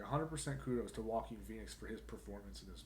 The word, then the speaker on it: Joaquin Phoenix: We're talking about the new Joker movie, which aired last Thursday, starring Joaquin Phoenix.